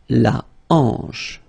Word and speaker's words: hanche: La hanche, remember, H here is not pronounced, so you get the sound en, hanche at the beginning.